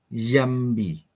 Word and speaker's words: Yambi: fambi Ya Pak Eh bukan bukan fambi itu cara baca tulisan abad 16 dibaca yambi yambi Oh y Oke y